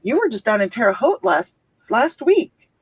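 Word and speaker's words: Terre Haute: Um, you were just down in Teroot last last week. Yes, we were. Terote rhymes with boat.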